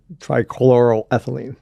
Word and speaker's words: trichloroethylene: solvent and you're gonna have to help me pronounce this this chemical trichlorifying trichloroethylene thank you that was not going to get